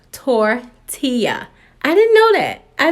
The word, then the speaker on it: tortilla: this time nobody corrected me I was saying to Tila now one of my friends was like it is pronounced tortilla I didn't know that I did not know